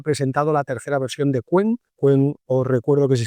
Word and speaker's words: Qwen: que Alibabá ha presentado la tercera versión de Quen. Quen, os recuerdo que se escribe QW M.